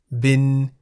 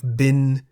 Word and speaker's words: บิน: The single syllable in the word bin is a live syllable because it has a sonorant final consonant no nu. Bin begins with a middle-class consonant bo by mai. Therefore, based on the tone rules for live syllables, bin is in the middle tone.